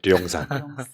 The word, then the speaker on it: 용산: 정확히 말하면 북한식으로 발음하면 령산이에요. 령산. 근데 그게 이제 한국 발음으로 용산인 거지. 네.